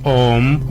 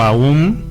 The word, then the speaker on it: Om: El más conocido es el Om o Aum, como correcto, se pronuncia, que dicen que es el sonido o la vibración del universo, ¿no?